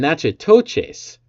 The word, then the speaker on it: Natchitoches: Nacogdoches in Texas, I believe, is how it's pronounced, and Natchitoches there in Louisiana.